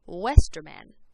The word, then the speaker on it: Westerman: means double v and it's pronounced just like it is in english so like my last name is pronounced westerman now the letter x